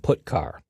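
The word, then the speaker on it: putchar: character io functions are get car and put car that's how I pronounce them get car fetches a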